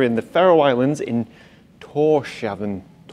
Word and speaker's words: Tórshavn: So we're in the Faroe Islands in Tórshavn, it's written on the side of the ship, but I still can't pronounce it. Tórshavn, yeah, the Faroe Islands.